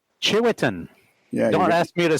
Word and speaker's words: Tshiuetin: Chiwetan. Yeah. Don't ask me to spell it.